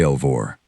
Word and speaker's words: Elvour: Say Elvour. He said it the way people say names that are supposed to mean something with a particular weight on the second syllable.